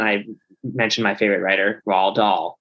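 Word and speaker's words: Roald Dahl: mentioned my favorite writer R doll which is spelled r o l d o l l r doll it's a tricky name you know it's a it's not an intuitive spelling you know it's okay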